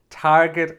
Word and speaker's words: target: this one is different target is an exception it has a hard g are you ready to